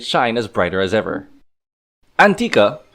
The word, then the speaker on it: L'Antica: Antica... Yes, the "L"is silent for those of you who don't know comprising of Tsukioka Kogane, Shirase Sakuya, Mitsumine Yuika, Tanaka Mamimi and Yuukoku Kiriko.